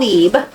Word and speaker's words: Libre: Okay, so this is the YSL Leeb, which is Libre. I don't know. Dual Lipa. She says it leeb saying leave. I think I say it wrong. I say Libre cuz it has a R in it.